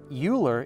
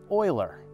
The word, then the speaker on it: Euler: black holes is is not connected James Craver uler is pronounced Oiler Oiler Oiler unless I'm be punked then and then it's actually uler anyway a couple of people winced when I said uler but it's actually Oiler so I apologize John